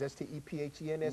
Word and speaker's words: Stephens: Spells like Stevens, S-T-E-P-H-E-N-S, but it's pronounced Stephens.